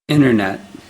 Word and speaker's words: internet: you're lucky internet and the way it's usually pronounced internet now you have to understand that native speakers